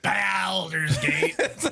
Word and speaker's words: Baldur's Gate: Hey, Guilty, is it Boulders or Baldur's? How do you pronounce it? Baldur's Gate.